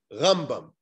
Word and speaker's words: Rambam: we put the emphasis so when we speak about rabbi moshe ben maimon the emphasis is on the first syllable rambam when we speak about rabbi moshe ben nachmann the later then the emphasis is on the last syllable so you say ramban i guess that's just